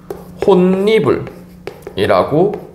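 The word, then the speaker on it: 홑이불: 호 이불이라고 합시다 자 여러분들이 호 이불 같은 경우에는 어떻게 혼니불이라고 발음이 됩니다 혼니불 자 여러분들 여기에서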